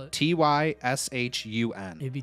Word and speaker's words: Tyshun: How do you spell it? T-Y-S-H-U-N. It'd be Tyshun.